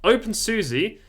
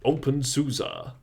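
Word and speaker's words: openSUSE: got soul it's fantastic open Susie now this one is cut off I quite like the gecko though it's it's Unique or if you're if you're pronouncing it properly it's open Susa that's what it looks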